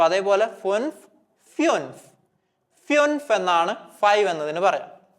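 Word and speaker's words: fünf: ഉം വരുന്നുണ്ട് അപ്പൊ ഉംലാവ് വരുന്ന സമയത്തും നമ്മൾ നമ്മളുടെ ഉച്ചാരണ വ്യത്യാസം പഠിച്ചിരുന്നു സാധാ ഉണെങ്കിൽ നമ്മൾ ഉ എന്ന് വായിക്കും അതായത് ഫുൻഫ് എന്ന് വായിച്ചിരുന്നു അവിടെ ഉംലാവ് ഇല്ലെങ്കിൽ പക്ഷേ ഉംല വരുന്ന സമയത്ത് നമ്മൾ പഠിച്ച എക്സാമ്പിൾ ഏതായിരുന്നു ഉബർ യൂബർ സോ അതേപോലെ ഫുൻഫ് ഫ്യൂൻഫ് ഫ്യൂൻഫ് എന്നാണ് ഫൈവ് എന്നതിന് പറയുക ഫ്യൂൻഫ് ഫ്യൂൻഫ് ഇനി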